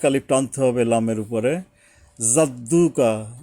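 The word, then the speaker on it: جَدُّكَ: টানতে হবে লামের উপরে জাদ্দুকা জিমটা কিন্তু জিহ্বার মাঝখান থেকে জিহ্বার মাঝখানে একটা চাপের মত আসবে জাদ্দুকা ওয়ালা ওয়ালা এখানে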